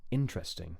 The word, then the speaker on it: interesting: stress so um basically first is Dum interesting yeah second is dumi and